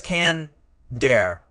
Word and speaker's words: candor: Today, we're exploring a word that embodies this crucial quality: candor. Word type. Candor is a noun. It's pronounced as can-der, with the stress on the first syllable.